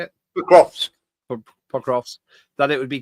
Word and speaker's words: Pokrovsk: Pokrovsk.